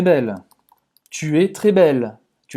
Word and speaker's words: belle: Termina a pronúncia no L. Tem gente que fala, é como bela, é como se fosse um A no português. Pode parecer no seu ouvido, mas na verdade é o fim da pronúncia do L, tá? Que esse L é bem pronunciado.